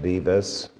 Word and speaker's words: Dives: given him the name Divas Latin for Rich when you see it spelled out it looks like Dives it's pronounced Divas uh the two men